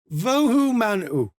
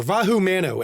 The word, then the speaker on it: Vahu Mano: And then of course while that was going on and Cthrazio went to meet Vu Manuh or Vahu Mano actually. Sorry I said it right this time.